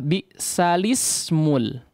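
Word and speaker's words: بِئْسَ الِاسْمُ: Maka dibacalah bi'salismul, ya, bi'salismu, bi'salismul fusuqu ba'dal iman. Ya, itu cara membacanya.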